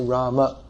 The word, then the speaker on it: Rama: So to say the name properly according to Sanskrit pronunciation, we should say Rama.